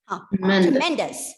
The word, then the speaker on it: tremendous: tremendous. Yes. Where is the stress? MEN. MEN. Tremendous. So in a word with 3 syllables, it can be either on the first or the second or the third syllable.